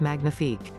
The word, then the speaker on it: magnifique: French, you're amazing, 2s magnifique. 2a ma nyee fique.